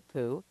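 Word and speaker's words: P'u: concept that of who now unlike our buddy Winnie the Pooh this one is spelled p apostrophe U and what it means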